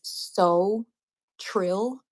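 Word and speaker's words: Sewtrill: is by an artist her name is so Trill it's spelled s e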